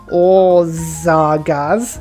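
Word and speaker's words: Országház: I'm also going to get this wonder, the Orzagaz. Yep, that's how you pronounce it.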